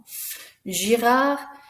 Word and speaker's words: Girard: Girard, Henri, Leblanc, Mathieu, Renoir, et Simon. Notice again, that's right, the last letter isn't pronounced.